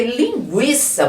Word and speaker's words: linguiça: lado de cá porque linguiça você percebeu que pronunciou o u vamos ver se a